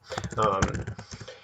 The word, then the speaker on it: Farrow: It's not spelled like Pharaoh, like the king, but Farrow. And Like magnetic, ferromagnetic. yes, yes, like magnetic.